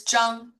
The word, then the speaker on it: Zhang: Zhang? It's Zhang. Zhang. Yes. And yeah, us, white women want to just pronounce it, any way they want to.